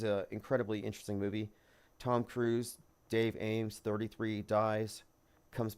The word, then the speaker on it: Cruz: the actress is Penelope Cruz so you have Tom Cruz penel be Cruz phonetically the same and it all does